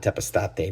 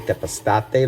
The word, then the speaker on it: Tepeztate: And Agave Tepeztate, like I said, is phenomenal. Sometimes you will see it with an X instead of the Z. Same pronunciation, just different regions, language, dialects, things like that.